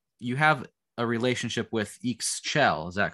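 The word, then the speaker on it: Ixchel: uh divinities um you have a relationship with eeks chell is that correct is that how you pronounce her name yes yeah reading about her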